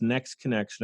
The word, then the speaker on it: NXT Connection: you to promote again it's nxt connection but it's pronounced next connection i love it i